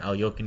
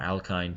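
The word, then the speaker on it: Alekhine: It was from an Alyokin game, or an Alkine, depending on your pronunciation.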